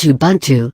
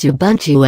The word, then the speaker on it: Ubuntu: decency and tolerance on teaching Ubuntu the words Ubuntu originates from one of the Bantu dialects of Africa and is pronounced as a boon - it is a